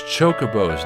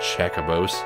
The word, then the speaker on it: Chocobo: the finals moksha Cabos your pronunciations are wrong it's chocobos not checker Bose although this season the